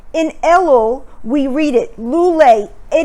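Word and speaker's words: לולא: time of year look at the first word lulay which is spelled lamed vav lamid alef if you switch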